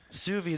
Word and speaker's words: sous vide: Sous vide.